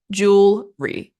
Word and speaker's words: jewelry: American way I say The British way say jewelry literally just two syllables jewelry I think that's much